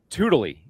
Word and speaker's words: Tewdilly: And our third wheel for the day, a brand new partner to Colorado Preps, Jared Harding from Tewdilly. Am I saying it right now? You nailed it. Yeah, Tewdilly.